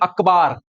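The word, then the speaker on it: अख़बार: मिरतुल अखबार, इसे हम स्पेलिंग अकबर की है, प्रोनाउंस अखबार करेंगे।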